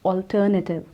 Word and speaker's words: alternative: The right pronunciation is alternative. Alternative.